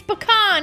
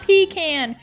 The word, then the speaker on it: pecan: both are not correct it's pecan it is not pecan and that started its own thing so I checked with our friends at NC Hillel and yes both pronunciations are correct so let's get started